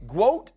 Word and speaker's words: GWOAT: Is it GWOAT? Is that how it's said? Yes, GWOAT? like GOAT, but GWOAT, yeah.